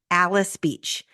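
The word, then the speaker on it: Alys Beach: the newest and most luxurious Alice Beach this is spelled a l Ys Alice is modeled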